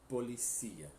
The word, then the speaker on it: policía: E em espanhol, la policía, tá?